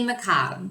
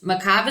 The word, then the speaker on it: macabre: I'm faintly macabre, which macabre is an interesting word. In England, they say macabre. In America, we say macabre.